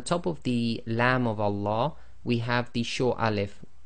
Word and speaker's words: Allah: and a fata so always remember the Lamb of Allah is always two lengths long so in conclusion we